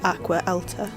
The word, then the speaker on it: Acqua Alta: up the name for, and I think it's pronounced Acqua Alta, which was tiny, but had old gondola boats